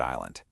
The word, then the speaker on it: island: So look, the silent S is a fun fact, and the different meanings are interesting. But the real secret of the word island, it has nothing to do with any of that.